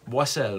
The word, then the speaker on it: Boissel: Boissel, ouais. Avec 2 S. Ouais, il y a 2 S, t'as raison. Faut pas prononcer ça comme un Z dans ce temps-là.